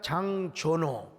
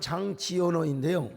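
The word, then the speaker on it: Jean Giono: 프랑스의 작가 장조노, 원래는 우리나라 말로는 장지오노인데요. 우리 프랑스 유학 갔다 온 분이 목사님 그렇게 발음하면 쪽팔립니다. 장조노라고 하세요.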